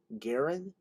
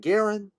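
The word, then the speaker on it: Garon: Kennedy, himself a twin, and Garen to rhyme with Aaron.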